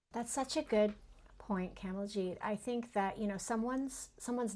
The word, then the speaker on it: Kamaljeet: to value ourselves and say, my name is Kamaljeet, pronounced Kamaljeet, rhymes with whatever if you want to make it easier, or.